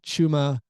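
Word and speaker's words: Achiuwa: bit apparently achuma okay had been saying his name wrong uh he he apparently he had family members who said Hey listen you're on TV a lot they say your name it's pronounced like this and so uh we can correct that uh chuma okay uh anything you're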